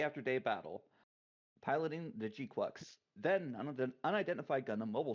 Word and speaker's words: GQuuuuuuX: I know it's pronounced GQuuuuuuX, but I mean, come on, GQuuuuuuuX.